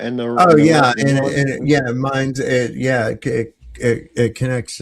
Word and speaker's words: Main: That's the the It's called the mine river. It's It's spelled Maine.